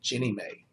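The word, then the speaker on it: Ginnie Mae: National Mortgage Association or is pronounced or abbreviated Jenny May or the Federal homeown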